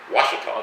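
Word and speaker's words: Ouachita: small town and the county how do they pronounce the county washita they do yeah notnot o queer yeah when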